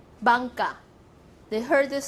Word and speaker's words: Bangka: The Taiwanese name from Wanhua, if you say, I'm going to Wanhua, but if I say in Taiwanese, Wanhua will be Bangka. Bangka, so different.